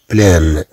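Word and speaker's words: pleine: في المؤنث نتكلم هنا على طاس، كلمة مؤنثة، إذا طبعا سنضيف أ ويتغير، ويتغير طبعا النطق. إذا سنقول بلان.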